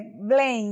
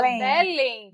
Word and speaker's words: Belém: Eu sempre tava com dúvida aqui como é a pronúncia. É Belém mesmo. É Blen, né? Bl. Olha, gente, eu tô errada. É Blen. Eu tava Belém.